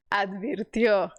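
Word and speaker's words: advirtió: bem ruim tio tio então você tem que dizer suave letra B suave e fechasse o por isso que essa palavra é difícil de pronunciar AD isso aí advirtio não estou rindo de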